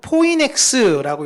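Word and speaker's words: φοῖνιξ: 그리고 이 종려나무를 헬라어로 읽을 때는요, 여러분, 포이넥스라고 읽습니다.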